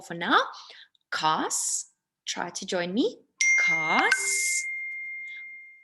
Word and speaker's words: kaas: When you put 2 a's next to each other, it doesn't say ah, it says ah, so it changes a little bit.